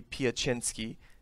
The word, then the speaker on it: Piecznski: it's a y um so it should be piacinski with the y but it's it's spelled incorrectly so it's because we